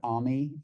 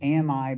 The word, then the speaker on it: Ami: So my first name is Ami. It's AMI, but it's pronounced like Tommy without the T.